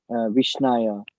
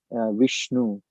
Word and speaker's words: Vishnu: So, a foolish person may say Vishnaya, a Pandita may say Vishnu, but the uneducated person may pronounce it wrong, but Bhavagrahi Janardana.